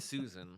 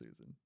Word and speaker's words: Tsuzen: Yeah, but it's to Susan, so that's why it's weird. No, it's Tsuzen.